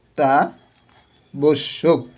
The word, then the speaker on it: অত্যাবশ্যক: এখন অত্যাবশ্যক, অত্যাবশ্যক, এই যে আবার এখানে জফলা দেখছি, তাহলে এটা কি হবে, দুইবার হবে, অত্যাবশ্যক, ঠিক আছে।